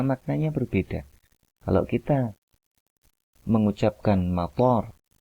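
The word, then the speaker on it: مطار: Kalau kita mengucapkan mator dengan artian toknya itu dua harokat, maka dia bermakna bandara.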